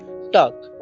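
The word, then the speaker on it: talk: word आता है हमारा टी ए एल के इसे भी हम एल यहां पर साइलेंट रहता है और इसे भी हम क्या पढ़ते हैं टॉक क्या पढ़ते है टॉक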